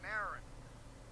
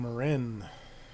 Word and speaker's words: Marin: It is Marin, right? Like I feel like I've looked this up and I seem to recall that being how you pronounce that. Yeah, I think that is correct as far as I know.